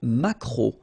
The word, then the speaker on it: maquereau: So technically this k, just pronounce it k, mac, maquereau, maquereau, alright? And then E, A, U, remember when you combine these three vowels, you get the sound O, maquereau, okay?